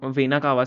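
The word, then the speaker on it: vena cava: अब देखो यहां पे आपने ऊपर वेनाकावा देखा होगा। वेनाकावा मैंने लास्ट में लिखा हुआ है। वेनाकावा आपने देखा होगा। इसको विनाकावा भी लोग बोलते हैं। अलग-अलग प्रोनाउंसिएशनंस होती हैं।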